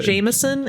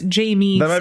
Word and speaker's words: Jamieson: It's not Jameson. It's Jamieson.